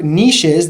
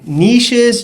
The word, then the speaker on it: niches: Now, you guys can say niches, you guys can say niches. I have a hard time figuring out which one's the proper pronunciation. I feel like niche is a little bit more sexier. So that's why I say niche, but I've also heard niches. So that works as well too, guys.